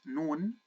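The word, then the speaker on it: نون: next letter which is noon noon it's equivalent to the letter N okay and noon let's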